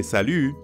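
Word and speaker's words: salut: morning or evening ends with the french sound yeah that's very french we to make this sound salu say ee but pucker your lips repeat after me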